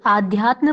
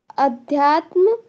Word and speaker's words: अध्यात्म: निर्विचार निर्विचार वैशारध्ये आध्यात्म प्रसादः। आध्यात्म नहीं पढ़ना है, आ का उच्चारण थोड़ा सा लुप्त करना है, क्योंकि आ वहां पे पूर्ण रूप से नहीं है, अविद्यमान है।